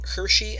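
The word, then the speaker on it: Hirschi: was promoted mainly by Hershey and godfredson that's how their names are pronounced states that it's poor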